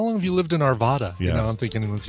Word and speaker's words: Arvada: Not to be pronounced Arvada. It's Arvada. Ah, like Nevada.